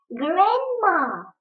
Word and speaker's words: grandma: Grandma. Grandma. Ребята, я подчеркнула буковку «ди», потому что она в этом слове не произносится, не читается. Это называется правило красивого чтения. Мы ее как будто бы пропускаем.